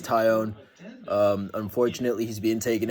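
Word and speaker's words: Jameson Taillon: this jameson tion fella that's how you pronounce his name i was calling him like tailin earlier but uh his name is tyon um unfortunately he's being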